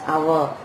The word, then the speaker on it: hour: Okay, an hour, H is not a vowel, but we are pronouncing it as hour, and so we are using an before that.